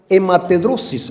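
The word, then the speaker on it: hematidrosis: grandes gotas de sangre, sufrió una hematedrosis, así se pronuncia los que son médicos.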